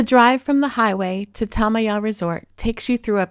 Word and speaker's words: Tamaya: When we first saw it written, we pronounced it Tamaya, but after speaking to the locals, we learned it is pronounced Tamaya.